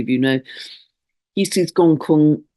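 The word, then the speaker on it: Gonggong: And that also links, I'm going to talk about another dwarf planet which links right now, which is Gong Kun, spelt Gong Gong, but pronounced Gong Kun.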